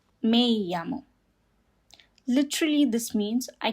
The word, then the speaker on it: me llamo: And the double L makes the sound ya. Like Y in Spanish.